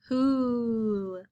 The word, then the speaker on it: who: who say the word who who is spelled w h o the w h make the sound and our o stands for the ooh sounds when we put together we get who and if we were to